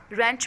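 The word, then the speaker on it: wrench: For example switch में T silent है, रेंच में डब्ल्यू साइलेंट है, रिस्ट में डब्ल्यू साइलेंट है।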